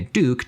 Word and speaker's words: DUK: the name too because he went from duk pronouncing a Duke to making a smaller